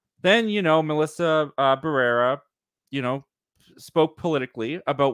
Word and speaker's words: Barrera: get her name wrong Melissa barrero Barrera yeah yeah Barrera yeah you got it yeah Melissa Barrera they